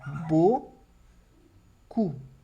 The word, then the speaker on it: beaucoup: Então, eu tenho beaucoup, d'accord? Bo, som de O, as 3 letras. O com som de U e o P do final que eu não pronuncio, d'accord? Beaucoup.